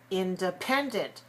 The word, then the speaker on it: independent: Now let's try the word independent. Independent. Independent. Right. Independent has 4 syllables stressed on the third. Pen. So we make air come out.